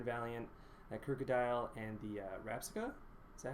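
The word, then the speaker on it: Rabsca: For Karate Man, we got that Gyarados and that Gohalego, with that Salamence, the Iron Valiant, that Crocodile, and the Rapsica.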